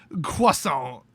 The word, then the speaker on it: Croissant: i gave it we have le french dec cuaso that's how you pronounce it it's french that is the accurate